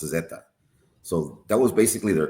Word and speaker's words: zeta: And in Spanish, the letter Z is pronounced Zetta.